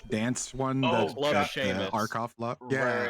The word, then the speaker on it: Seamus: It's it's SEAMUS if I'm not wrong. Seamus. I know. It looks like it spells Seamus, but It's spelled like Sean.